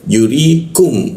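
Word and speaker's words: يُرِيكُمْ: Jadi dibacanya yuri ya yuri seperti itu ya yurikum.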